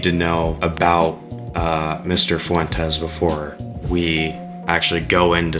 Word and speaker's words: Fuentes: named uh Nick Fu Fuenta. Sure that's how you Fuenta. I think that's how you uh pronounce his name. Only joking. We're going to be talking about Nick Fuentes today cuz he's easy